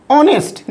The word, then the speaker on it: honest: ही is dash ऑनेस्ट and laborious man, ही इज ऑनेस्ट, देखिए HONEST है बट H silent हो जाता है, ऑनेस्ट प्रोनाउंसिएशन के रूप में यूज होता है, which is vowel, so एन।